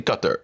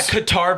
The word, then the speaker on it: Qatar: when people are like, it's actually Qatar. It does. Well, yeah, Qatar versus Qatar is like I think, I could be wrong, I think that's a endonym versus an exonym.